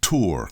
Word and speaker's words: tour: Lanny, I wish people pronounce tour correctly. It rhymes more with lure than tour.